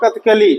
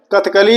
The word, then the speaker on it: कथकली: कौन सा राज्य है कथकली और कथकली मत कहे इसे कथकली कहने में दो बार का बन गया बेटा होता क्या है कथकली जैसे अभी मैं प्रोनाउंस कर रहा हूं आप इसको जाने